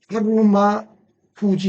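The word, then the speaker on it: 日馬富士: 그리고 그것은 하루마 후지 이렇게 읽는데 이게 하루는 일이 한국어의 하루, 일일을 말합니다.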